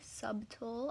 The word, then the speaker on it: subtle: I mean, the glow is pretty subtle. I know it's pronounced subtle, but I mean, it's not horrible.